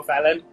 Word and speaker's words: Falan: to have you with me on the show, Fallon, Andrea Jansen.